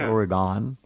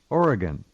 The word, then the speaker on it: Oregon: By the way, it's spelled Orygun, and that's how you pronounce it. That's how you pronounce it. Oregon. Really? It's not Oregon or Aragon. Oregon. Oh. No, it's Oregon.